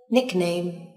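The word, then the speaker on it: nickname: nick name nét ngài nick name các bạn lưu ý từ này trọng âm rơi vào âm Tiết đầu tiên nick này chứ không phải là âm tiết thứ hai lịch nên tiếp theo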